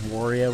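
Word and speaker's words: 悪い: Japanese word that gave Wario his name, and he starts calling it Wario. It's Wari, the Japanese word for bad or evil. And then he starts calling him so Wari and Mario Wario.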